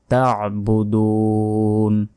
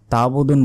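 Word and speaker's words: تَعْبُدُونَ: মা এক আলিফ, তা'বুদুন, অনেকে বলি মা তাবুদুন বললে এই যে মাঝখানে যে আইনের উপর সাকিন আছে এটার উচ্চারণে কিন্তু আমরা করলাম না, তখন অর্থ চেঞ্জ হয়ে যাবে, তখন আমাদের গুনাহ হতে পারে। তাই সঠিক উচ্চারণ করবেন, বলতে হবে মা তাবুদুন, দুন এখানে 3 সেকেন্ড টান দিতে হবে।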